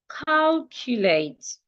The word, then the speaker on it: calculate: I can also have the word calculate. Calculate. It also ends in a t. I'm stressing call.